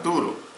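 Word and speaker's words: πτύρω: En el idioma griego muchas palabras se escriben al principio con la letra P, pero el sonido es mudo. Es la palabra turo.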